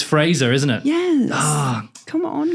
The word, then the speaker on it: Fraser: Were you a Fraser bitch? I did say Fraser. It's Fraser, isn't it?